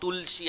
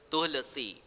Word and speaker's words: Tulasi: That means not Tulsi, I hope. It must be pronounced as Tulasi, something like this.